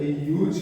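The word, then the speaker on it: use: जब ये हमारा यूज नाउन के फॉर्म में होता है तो हम लोग इसका उच्चारण यूज करते हैं। जब ये वर्ब के फॉर्म में होता है ना तो यूज कहते हैं।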